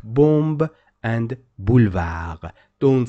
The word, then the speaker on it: boulevard: Boulevard. Boulevard. B. Boulevard. Exactly. Why it is red in color? Because another word, another letter that is not pronounced at the end of the word is also de.